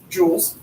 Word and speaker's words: joules: once one time we had to compare it to jewelry cuz none of those fancy little smoking devices didn't exist but now everybody knows how to pronounce joules calories are the English